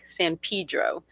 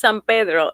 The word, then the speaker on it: San Pedro: san pedro okay and it's a latin word so it's san pedro and people are always correcting me because i want to say it in spanish it's like colorado growing